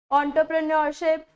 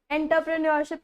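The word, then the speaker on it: entrepreneurship: ऑन्टरप्रेन्योरशिप, ऑन्टरप्रेन्योरशिप, एंटरप्रेन्योरशिप नहीं होता, ऑन्टरप्रेन्योरशिप होता है।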